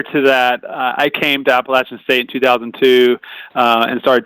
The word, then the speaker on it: Appalachian: about the program at Appalachian State, assuming I pronounced that correctly. Yeah. Yep. Appalachian, App State.